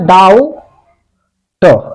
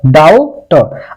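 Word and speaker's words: doubt: मैं आपको बता दूं, अगर टी से पहले अगर बी आता है तो बी साइलेंट रहता है, जिसे हम पढ़ा नहीं जाता।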